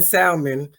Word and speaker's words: salmon: had to make mine salmon i wasn't tasting it though i let him taste the 10 million i know you don't eat it because you pronounce the l it's just salmon salmon i don't eat it